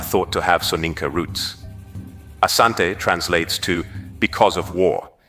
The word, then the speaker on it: Asante: The variant name Ashanti emerged from British reports where the pronunciation of Asante was transcribed as Ashanti reflecting how the British heard and interpreted the word.